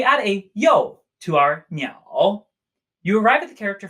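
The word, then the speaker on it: 鸟: Our first character for today is the character for birds, pronounced meow, meow, dipping tone, meow.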